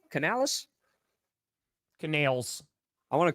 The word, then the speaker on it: Canales: Canales.